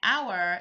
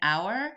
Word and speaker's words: hour: But an hour, the H is silent. We're starting with the O and hour, so therefore we use the AN because it starts with a vowel sound.